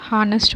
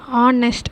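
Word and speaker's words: honest: ஃபார் ஹீ is dash ஹானஸ்ட் worker. இங்கே ஹானஸ்ட் அப்படின்றத ஆனஸ்ட் அப்படின்னு தான் ப்ரொனவுன்ஸ் பண்ணணும். ஸோ வவல் சவுண்ட் இங்கே வர்றதுனால ஆன் அப்படின்ற ஆர்டிக்கல் தான் வரும்.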